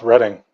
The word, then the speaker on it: Reading: Dam dam Tony's right the town of reading is pronounced reading then how do you pronounce